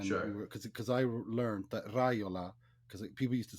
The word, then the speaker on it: Raiola: Yeah, but it's Raiola. It is Raiola.